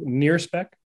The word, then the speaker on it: NIRSpec: My space telescope colleagues say the near spec. If you wanted to know how to pronounce the instrument.